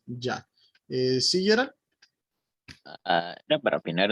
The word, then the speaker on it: Yah: Y si va al final es Yud, Hei y se pronuncia Ya.